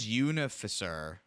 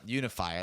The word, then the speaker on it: Unifier: All right, so the next one here is Atraxa Grand Unificer. It has to be how that's Unifier. pronounced. Yep. Yep. Okay. Yep, Unifier.